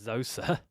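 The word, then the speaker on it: Djoser: as zza or yoza he's actually spelled with a d at the front but it's it's silent D and sometimes it's a silent J as well is it if it's zosa well there's no Zed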